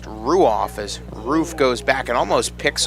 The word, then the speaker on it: Ruoff: r-u-o-f-f pronounced ruoff as roof goes back and almost picks off brandon but no it is pronounced roof like the roof of a house two balls one strike